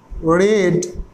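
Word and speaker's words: read: এবার আমরা দ্যাট ব্যবহার করব, আই হ্যাভ রেড, রিড এর পাস্ট ফর্ম হয়ে যায় রেড, উচ্চারণটা, I have রেড that story.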